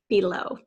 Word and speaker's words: below: last word is below this first syllable is typically said but which is a schwa we're going to spell it with an e and then low but as I said at the end some people do say below and then you can really hear the long e and the first syllable okay that's it make